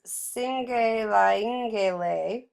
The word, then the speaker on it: Cingelyengelye: of the tattoo, and this is a hard word to say, so bear with me. It's Singelaingele. I'm going to spell it for you. Cingelyengelye. And originally, the Singele Yangele occurred as a necklace